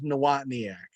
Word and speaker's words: Nawotniak: My last name's Nawotniak, but you can just call me.